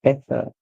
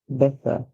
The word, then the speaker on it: better: better better in English British English uses or pronounce it as better the American would pronounce it as better better sorry they would not use that song know the Americans would not use the T song remember whenever Americans called